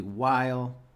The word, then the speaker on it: Weil: Jeremy Goldberg, and today's guest is Weil. Rhymes with smile.